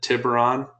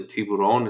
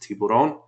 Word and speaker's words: Tiburon: so you may have seen the Hyundai T tiberon they call it but it's actually Tiburon it's pronounced Tiburon and it means shark Mesa means starts um